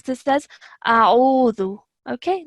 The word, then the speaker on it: أعوذ: Even from here, please make sure that, like I said, alif is a separate sound and this ayn is a separate sound. So we would pronounce this as a'udhu, okay, like that, and not auzu.